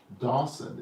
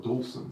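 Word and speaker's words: Dowson: the name of Ernest Dawson. Is that Dawson or Dawson? It's Dawson. It's Because Dawson. I looked it up today, I said, did I misspell that? Uh-huh. But it's definitely D-O-W, not D-A-W.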